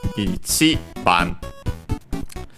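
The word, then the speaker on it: 一番: There are some exceptions, unfortunately, but the rule is usually accented on the syllable, on the last syllable of the first of the number, on the syllable before the counter.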